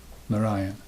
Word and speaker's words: Narayan: Narayan. That's how you put that emphasis on the second syllable. Narayan. Narayan. It's the best way to say that.